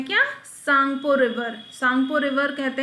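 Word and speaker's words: Tsangpo: भी कहा जाता है इंग्लिश में अगर आप देखेंगे यह त सांगपो आपको लगेगा ठीक है टी इसमें साइलेंट होता है त सांगपो लेकिन यह है क्या सांगपो रिवर सांगपो रिवर कहते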